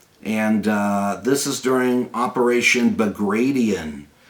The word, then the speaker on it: Bagration: And this is during Operation Bagration, named after Prince Bagration, not Bagration. It's not how it's pronounced.